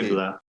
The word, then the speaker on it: Qibla: Did I pronounce that well? Qibla? Yes. Yes. Okay. Qibla.